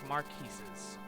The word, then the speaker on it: marquis: These smaller lands are the Lycian League, whose numerous territories are independently ruled by a number of marquises. It's pronounced marquis.